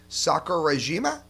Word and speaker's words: Sakurajima: Sakurajima?